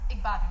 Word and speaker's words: Igbadun: Igbadun Brewery Company. Igbadun Brewery Yes.